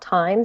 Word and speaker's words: Tyme: week is an app called time spelled like the herb um t-y-m-e and it basically helps